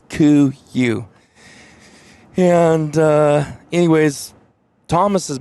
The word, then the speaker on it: KUIU: heard of that brand how you pronounce it it's C you and uh anyways Thomas